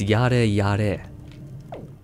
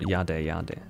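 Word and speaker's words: やれやれ: It's yare yare. Not yade yade. Point being that the pronunciation of the R is a rolling of the tongue which can sound like a D.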